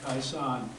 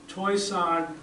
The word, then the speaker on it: Toishan: Taishan is from what I've seen, it's a Mandarin way of saying it. Taishan is the Cantonese way of saying it, and Huishan with an H is the way the locals say it.